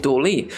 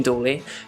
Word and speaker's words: DALL-E: For instance, a new tool came out recently called DALL-E. I think I pronounced it right.